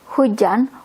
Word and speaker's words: hujan: We mostly don't say the H, hujan. We just say hujan. We skip the H.